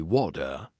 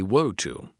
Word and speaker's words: water: In American English, people say water. In British English, people say wo to. Both are correct.